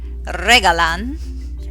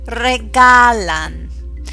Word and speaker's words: regalan: a gift AOS nice notice where I'm putting the emphasis it's not regalan it's not regalan it's regalan you're putting the emphasis on the second to last syllable look at Kar do